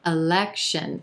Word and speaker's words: election: number five election election three syllables here emphasis on the second syllable and that e is in red vowel sound election our first syllable is going to be super quick as is our third syllable election a quick sh